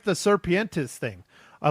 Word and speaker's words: serpiente: How do you say snake in Spanish, Matt? Come on, Matt. You're Serpientes. Oh, okay. Serpiente. Serpiente, yes.